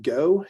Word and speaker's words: GO: what we call the go launcher so generation orbit starts with a g and an o we pronounce that go even though it's cap two capital letters we'll pronounce it as